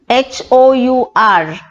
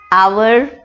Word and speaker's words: hour: H-O-U-R, pronounced variously as hour, hour.